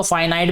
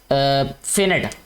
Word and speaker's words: finite: इसको फाइनाइट भी पढ़ते हैं, फिनिट भी पढ़ते हैं, इट्स अप टू यू, आपकी चॉइस क्या है इसको प्रोनाउंस करने की, बट my choice is finite।